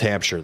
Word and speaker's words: Hampshire: it's not a a real real Shire it's pronounced Hampshire though Hampshire yes Hampshire it's out west of